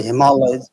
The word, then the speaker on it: Himalaya: Not the Himalayas, Himalaya.